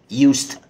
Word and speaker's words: used to: ستيك اراد اولا كده قبل ما نبتدي خليني اقول ان ي نطقها في الماضي ي الاس هنا بتتنطق ز اللي هو استخدم لكن لما بيتحط عليها تو لانها بتحصل كتير قوي معانا النهارده بتتنطق يوست دلعها كده يوست يبقى مافيش بقى يو الاس بتتنطق زي ما هي والتو بتتنطق ت يوست يوست يوست معناها